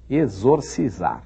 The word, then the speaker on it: exorcizar: que tratava disso então exorcizar exorcizar é difícil falar né exorciza seus logo no começo e XIX esofro F X1 da letra e exorcizar esses tem o mesmo som do X de exame por exemplo tem o